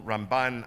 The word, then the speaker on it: Ramban: be confused with rambam usually rambam gets pronounced on the first syllable ramban on the last syllable the last letter is